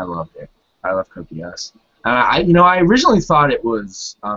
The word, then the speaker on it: Geass: they mentioned Geass, and they pronounced it like Geass, and I'm like, what? This dub sucks. It's Geass. It's Geass.